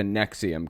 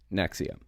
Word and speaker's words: NXIVM: episode is going to be talking about the Nexium cult that's how it's pronounced NX IVM it's pronounced Nexium we're going to be going through it a